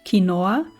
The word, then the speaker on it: quinoa: I mean, it is um a gr it is a Latin American word. They would call it kinoa.